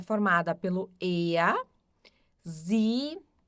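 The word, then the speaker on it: sie: O s som de z e o i e o e tem um som mais longo de i. Então fica z, eles elas.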